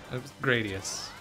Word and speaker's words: Gradius: Gradius. Actual pronunciation.